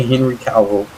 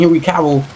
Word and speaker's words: Henry Cavill: Y'all can't say Henry Cavill.